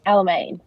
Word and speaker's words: Alamein: So your club is it Alameen or Alamine? How do you say your club name? Do I have that right from Facebook? Alamein. Alamein.